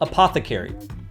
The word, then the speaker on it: APTHCRY: gotta respect the hustle, his brand is called Apothecary, and it's spelled APTHCRY.